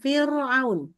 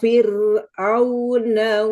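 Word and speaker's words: فِرْعَوْنَ: Firnya harus tipis gak boleh firaun. Oke, coba ila firuna wa malaih.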